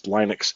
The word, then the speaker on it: Linux: or Linux yeah Linux it's Linux and Jiff not GIF anyway uh not start